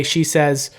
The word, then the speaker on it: Shesez: just came up with a name that just uses 2 syllables, and if you said it out loud in real life, you may accidentally say my name in a sentence.